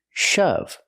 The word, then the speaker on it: shove: to push something hard shove pronunciation use the short H sound like cup and up shove example the